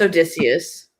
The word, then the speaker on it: Odysseus: I'm pronouncing Odysseus. Yeah, it's Odysseus.